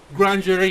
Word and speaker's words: Grandury: the way I saw it it should be grandera is is that how you pronounce it yeah yeah it's it's it's as